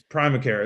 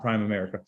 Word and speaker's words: Primacare: the prime America works it's Primacare it's Primacare not prime America um stop pronouncing it wrong yeah it's Brian mccarth